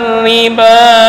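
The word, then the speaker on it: الربا: Alladzina yaulun riba laquumuna illa sebentar. Riba di sini ro bertasydid kemudian berharakat kasrah. Nah, ini entar cara membacanya adalah dengan tarkik.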